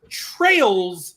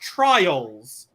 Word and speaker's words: Trails: Adol, that's his name, and then Lacrimosa I played on Switch, and then we're also getting Trails, which to me it's Trails, not Trials.